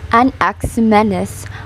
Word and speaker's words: Anaximenes: of its life of a nexuminus pronounced an ax menace other than he was